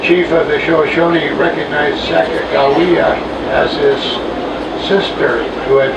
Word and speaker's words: Sacagawea: I understand it's better pronounced Sacagawea. Eastern newspaper meant for a J in the word instead of a G.